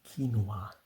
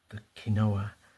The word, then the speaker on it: quinoa: Some people in English use the pronunciation quinoa, but I prefer the quinoa, which is more faithful to the Spanish.